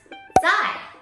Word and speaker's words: 在: It's very normal for people to get those two words confused because they sound the same, they're both pronounced as 在.